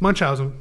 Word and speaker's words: Munchausen: How do you say it? It's Munchausen. Yeah. Munchausen syndrome. Like Milhouse, but is a mental